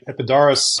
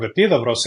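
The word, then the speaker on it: Επίδαυρος: And you mentioned, Ken, the Epidaurus Festival. So, and I'm going to pronounce it in Greek. At the ancient theater of Epidavros in Peloponnesos, you find the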